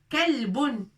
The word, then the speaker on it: كلب: كلب. كلب. avec لام لابد من السكون لكي ننطق الكاف avec فتحة لكي ننطق ك.